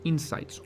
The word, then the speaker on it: insight: Cuando hablamos de los resultados que obtenemos tras un análisis de datos, solemos referirnos a ellos como insights, una palabra inglesa que se pronuncia insight.